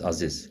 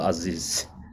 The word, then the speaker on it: Aziz: You pronounce my name correctly. Yes, Aziz. We all same Kazakh, Uzbek, Uyghur. We even in the wider Muslim world, we all call Aziz.